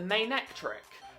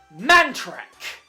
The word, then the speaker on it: Manectric: is Gyarados, not the weird-ass way that he pronounces it. And now, we're moving on to this one. This is a Manectric. Yet my very good friend, David, for the longest time, called it Mantrek.